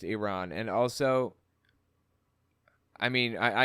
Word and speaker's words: Iran: planned the first Holocaust under hmon Iran it's pronounced Iran and also I mean I I think the